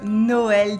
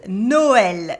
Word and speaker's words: Noël: The two dots on le E is called le tréma, le tréma. So it means that the O and the E are pronounced separately. We say Noël, Noël.